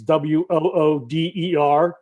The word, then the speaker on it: water: And they spell it incorrectly. It's Wooder to correct everybody in central Pennsylvania.